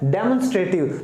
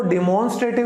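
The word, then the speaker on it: demonstrative: Next है डेमोन्स्ट्रेटिव, तो इसको डिमॉन्स्ट्रेटिव नहीं कहते, इसको हम प्रोनाउंस करेंगे डेमोन्स्ट्रेटिव।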